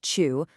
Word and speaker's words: 추: We've got Chu, pronounced Chu, which means autumn, then Ya for night, next is U for rain, and finally Jung, which means in the middle of.